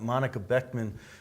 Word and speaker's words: Monika Boeckmann: Well, we got Monika Boeckmann.